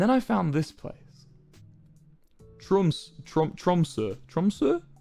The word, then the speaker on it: Tromsø: Tromsø. How do you pronounce the O with a line through it? Tromsø.